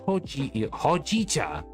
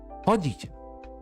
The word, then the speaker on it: Hojicha: And here's your iced ho hoa. I keep saying it wrong. Damn it. Hitta. Hojicha.